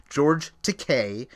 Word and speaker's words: George Takei: I always mispronounce his name, but it is George Takei, and he's got a huge following on social media.